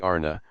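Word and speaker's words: Ana: upon individual inclination X the word Anna pronounced broadly Arna corresponds with our plural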